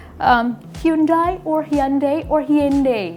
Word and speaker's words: Hyundai: love to ask you about how do you pronounce um hyundai or hyundai or hy precise Korean hyundai.